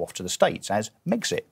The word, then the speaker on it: Megxit: to the States as Megxit, right. Which makes perfect sense. It rhymes with Brexit. It rhymes with Brexit. It's got the same number of syllables.